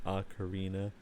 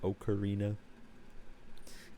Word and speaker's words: ocarina: Interestingly, both are correct. I believe the instrument originates from like Italy or somewhere around the Mediterranean, and there you would pronounce it ocarina. This is my understanding. However, the English pronunciation is recognized to be ocarina.